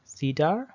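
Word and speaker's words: CIDR: enter domain routing okay cedar pronounced cedar in 1993 the itef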